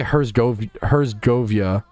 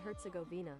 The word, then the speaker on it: Herzegovina: Govina, not like Gavinia. I was adding a Y for no reason.